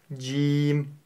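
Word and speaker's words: جيم: в произношении буквы М Джим Джим Джим буква Джим мягкая нужно её произносить мягко М В то же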